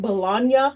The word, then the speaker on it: Bologna: It comes from the city Bologna. That's an Italian pronunciation, three syllables. The lunch meat is named after the city. Bologna sausage comes from Bologna. It Bologna reminds me of lasagna.